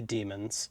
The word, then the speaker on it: daemon: I know that's pronounced demon, but they're like spirits in the non-physical world.